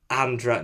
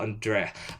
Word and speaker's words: Andra: Andra says, name pronounced like Andra, not Andrea.